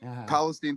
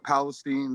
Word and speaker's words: Palestine: would what is this why are you willfully pronouncing it wrong to separate it from palestine yeah palestine with palestine see palestine we we ain't no arab from palestine we're palestine say well there's my favorite